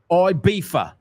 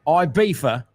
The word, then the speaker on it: Ibiza: And today we are going to, should I pronounce it in the Spanish way or the British way? Ibiza. Ibiza. I'm not saying which club, but we're going to a mega club in Ibiza, and we're going to